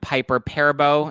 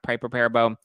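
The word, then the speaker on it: Piper Perabo: her ex-husband's affair with Piper perebo is that is how it's pronounced pipe repair bow Brandy Glanville was just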